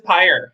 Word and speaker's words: Payer: i'm meeting uh so i'm sorry it is pire yeah weird okay there's a lot yeah but